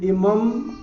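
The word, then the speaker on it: इमम्: तो इमम के अनुस्वार को हमने म बनाया।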